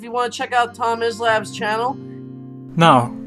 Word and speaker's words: Tomislav: Welcome to your first session of pronouncing Croatian names. Today we're discussing the name Tomislav. Here's an example how to not say it. Tomislav, or Tomislav, it's at T-O-M-I-S-L-A-V.